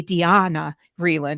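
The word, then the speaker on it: Diana Vreeland: for the Vogue fashion editor I'm gonna say Dian reand because that's how she wanted it pronounced and Dianna is a special consultant to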